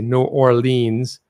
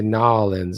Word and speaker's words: New Orleans: You don't say New Orleans. Say Nolans. That's how you do it.